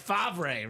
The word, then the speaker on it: Favre: I had the single season sack record taken down Dom's boy, Brett Favre, right? It is Favre.